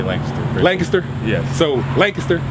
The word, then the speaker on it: Lancaster: I think people that are from the area say Laynecaster. I say Lancaster.